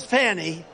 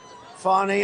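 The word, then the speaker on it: Fani: cases like funny funny it's spelled Fanny it spelled Fanny like your ass right F but when she became da she decided to add a little French a little fancy fny fonnie and you know fonny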